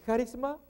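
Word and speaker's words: χάρισμα: Ok, charisma, esa es la pronunciación.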